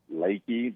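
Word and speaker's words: Leakey: near there called uh they call it called lakey but it spelled like leaky leafy for about a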